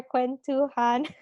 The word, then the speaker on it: kwentuhan: that finishes our um how do you pronounce it k-w-e-n-t han okay so that finishes our quen too han um what does that